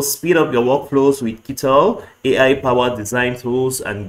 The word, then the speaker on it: Kittl: I'm sure that's how to pronounce it. Kittl, Kittl.